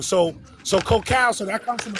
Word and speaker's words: cacao: Alright, so you see how it's a which is considered the prince of cocoas, but it's pronounced actually cacao.